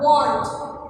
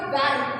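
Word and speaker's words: wand: Then W-A-N-D is a want. W-A-N-D. What we call it? Want. Will not call it van.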